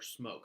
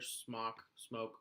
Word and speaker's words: SMOK: love or they hate SMOK or smoke, however you want to pronounce it. I prefer smoke because it sounds weird to say the other one.